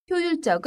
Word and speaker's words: 효율적: 이야기 할 수 있습니다 그리고 발음도 아까전에 계획적 처럼 효율적 이렇게 발음합니다 혼자 공부하는 것보다 선생님과